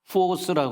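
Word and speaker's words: φῶς: 근데이 빛 처음에 만드는이 빛을 이제 헬라어로 보면은 포스라 그래요. F 발음 나죠.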